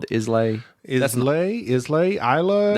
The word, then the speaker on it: Islay: Islay? Isla? It's Isla. Isla? It's not Islay. That's how it's spelled, but it's pronounced something different.